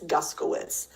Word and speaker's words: Guskowitz: George, hey, the correct pronunciation of my last name is Guskowitz.